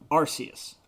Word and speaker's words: Arceus: Yeah, Pokemon Legends Arceus. That will always be a soft C to me. I can't make that a hard sound.